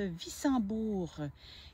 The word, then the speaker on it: Wissembourg: Le W, bien sûr, se prononce comme un V.